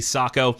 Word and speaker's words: Sako: week first is one from Sako or Seiko depending on how you pronounce it they say Sako it's called the TRG